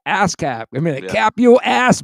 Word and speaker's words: ASCAP: or BMI or ASCAP, ASCAP, right? Great. So it's spelled the same way it sounds. Like an ASCAP.